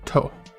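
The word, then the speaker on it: と: what we're saying uh it's pronounced toe like you're you hit your toe uh and it looks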